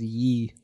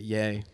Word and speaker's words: Ye: reform 2017 good old ye I forgot when he did that is it pronounced y or is it yay Kanye I think it's yay but